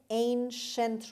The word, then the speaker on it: ancient: کلمه ancient رو داریم، دقت کنید CI در اینجا داره ش تلفظ میشه.